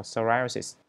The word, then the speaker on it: psoriasis: Từ psoriasis này, từ P này là P căm. Nên các bạn đọc là psoriasis.